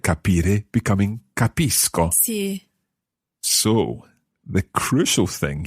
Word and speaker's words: capisco: So if C goes straight into O, then it's a hard C sound. Co. Capisco.